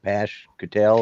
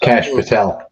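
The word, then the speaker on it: Kash Patel: There's fireworks over what is it, Pash Patel, or however you say his name is. Cash Patel. Cash Patel. Cash. Yeah. Yeah. I had the P and the C mixed up, but anyways, yeah, he's been.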